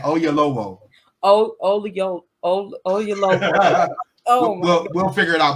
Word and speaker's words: Oyelowo: Oyelowo. Okay. Okay, how you say it? Olayo. I just said Oyelowo.